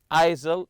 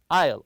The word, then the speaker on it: aisle: Do you prefer a window or an aisle seat? And remember, aisle with a silent S here. Don't read it aisle, it's aisle. The S is silent.